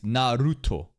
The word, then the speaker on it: Naruto: very soft R but the Japanese way of saying is narut narut narut I don't think it